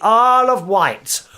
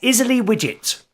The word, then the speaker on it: Isle of Wight: Hello to Katie on the Isle of Wight, also known by some of us on the mainland as Isley Widget, because that's how it's spelled.